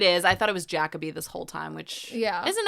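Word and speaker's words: Jacobi: In the past, I've said Jacoby. It's actually pronounced Jacoby.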